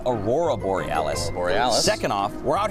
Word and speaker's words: Aurora Borealis: Okay, first off, you're pronouncing it wrong. It's Aurora Borealis.